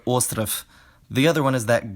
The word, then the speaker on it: остров: First, if a voice plosive or fricative is at the end of a word, it loses its voice like in snek and ostrov.